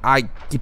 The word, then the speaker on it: Αἴγυπτος: They pronounced it as "Αἴγυπτος" (Ai-gy-ptos), which eventually became "Egypt" in English.